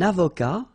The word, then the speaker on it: avocat: Un avocat, so remember, liaison here and then final T not pronounced, okay?